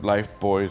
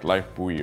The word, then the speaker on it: lifebuoy: for 40 years and I've always thought that was like lifebuoy or something I don't know why life boy that's how you pronounce it go save those